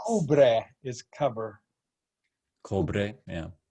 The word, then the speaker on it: cubre: her other eyebrow, so we just say it's Cubre is cover.